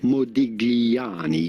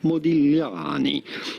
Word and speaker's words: Modigliani: In Italian, the true pronunciation would certainly not be Modigliani. You do not want to pronounce the G just like this. The Italians would say it Modigliani.